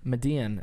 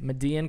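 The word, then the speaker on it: Medellín: Pablo Escobar and the Medellin, I think that's how you pronounce it, because of the two L's make it a silent Y, Medellin Cartel.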